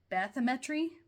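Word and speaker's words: bathymetry: Um, so forgive me if I don't pronounce this right, but it's Bametri. So, B- A T H Y and then Metri U for the Great Lakes.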